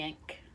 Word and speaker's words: Ankh: That's the right way to say it, the Ankh.